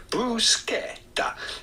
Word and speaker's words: bruschetta: in Italian with the typical Italian pronunciation. Typical. Bruschetta.